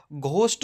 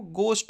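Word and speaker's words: ghost: तो ऑनेस्ट बोला जाएगा घोस्ट नहीं होता है वह घोस्ट होता है रिदम आर एयर एच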